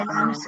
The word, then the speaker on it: island: biofluorescent and island, la S non si sente. Okay. Islands in the South Pacific when Suddenly, secondo me, appeared.